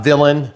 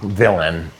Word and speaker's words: Villain: Villain. Villain. It's not villain. It's just villain.